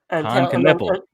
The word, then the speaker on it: Knueppel: I'll let you try to pronounce his name first. Knueppel.